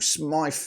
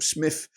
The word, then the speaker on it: Smyth: Up top, likes of Sandkeller, Michael Frey, Paul Smythe, or Smith, depending on how you say it.